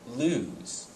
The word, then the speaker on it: lose: would be the word lose the word lose has just one o and says Z at the end and is spelled to